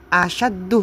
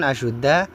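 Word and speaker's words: أَشَدُّ: ini gramatika Arabnya Ustaz jadi fama ba'dahu AS asaddu minhu bukan asyudda minhu jadi seseorang ya Itu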